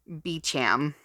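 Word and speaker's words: Beauchamp: name too buchamp my last name is pronounced beecham but no one ever knows how to say it why am i going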